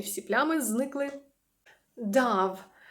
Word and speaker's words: Dove: і всі плями зникли дав Саме так воно читається Тому що тут є літера V Як ви думаєте що це